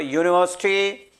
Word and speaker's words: university: on pronunciation or sound see the sound of this very word university its pronunciation is like this i write here it's a pronunciation it means this university is having y sound understanding y sound why that is your consonant that's why this answer